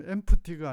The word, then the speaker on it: empty: 이때 발음 empty가 아니고 empty, p는 발음 안 합니다.